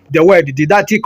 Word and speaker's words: didactic: lesson, we say is didactic. So the right option there, the right answer is D, didactic. You can pronounce the word didactic or didactic. The British way of pronouncing that word is didactic.